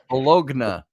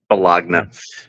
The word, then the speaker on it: bologna: Bologna. Bologna. Yeah, Bologna. The G is silent.